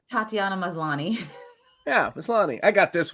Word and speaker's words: Maslany: Tatiana Maslany.